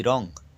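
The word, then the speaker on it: wrong: ডব্লিউ কোথায় silent থাকে ডব্লিউ আর ও এনজি রং দেখো ডব্লিউ উচ্চারণ নেই রং মানে ভুল এন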